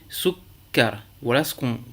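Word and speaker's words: سُكَّر: eh bien, tout d'abord, vous prononcez la consonne doublée sans voyelle, souk, et ensuite vocalisez avec la voyelle que vous trouvez sur cette consonne. Ici, sukkar.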